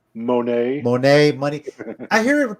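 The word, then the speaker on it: Moné: Yeah, I think it's supposed to be pronounced Monet with the idea that it sounds like money, but Okay.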